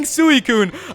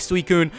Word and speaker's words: Suicune: me see you later you guys also told me I was mispronouncing suicune I don't know I just kind of pronounce things in my own way like kind of in Zelda I pronounce Sheikh Sheikh I did that forever until I eventually started going to shake so I guess I'll probably just start going with suicune but who knows it